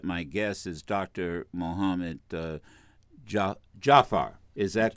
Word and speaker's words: Jaafar: Mohamad Jaafar. Is that correct? Is that the correct pronunciation? This is very close, or Jaafar. Jaafar.